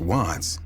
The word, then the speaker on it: WVTTZ: The name WVTTZ, pronounced Watts, paid homage to an LA neighborhood, while CHII, pronounced Chii, signified his affiliation with the Crips, a notorious street gang.